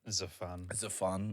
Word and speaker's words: Xaphan: a new techno project by the name of Xaphan. Am I saying that right? Yeah, Xaphan. Xaphan.